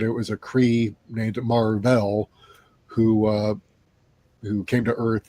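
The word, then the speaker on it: Mar-Vell: was a cre named Marvell who uh who came to Earth and became a superhero and his name got uh pronounced as Marvel uh and this was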